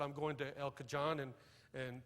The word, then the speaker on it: El Cajon: said i'm going to el cajon and and san jose she said out here we pronounce that j like an h it's el cajon in san jose how